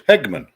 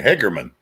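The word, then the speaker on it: Hageman: uh but ours was Hegman h-a-g-e-m-a-n and a lot of people growing up always call me Hagerman well there's no R in there but whatever my stepdad's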